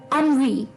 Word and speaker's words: ennui: बहुत ही अटपटा है, इसकी प्रोनाउंसिएशन थोड़ी सी हटके है। अनवी, अनवी। जी हाँ दोस्तों, ये वर्ड है अनवी, ENNUI, अनवी, ENNUI, अनवी, ENNUI, अनवी। जी हाँ, प्रोनाउंसिएशन इस वर्ड की अनवी, ENNUI, अनवी।